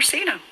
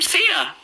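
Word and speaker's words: JaSena: name her Cena?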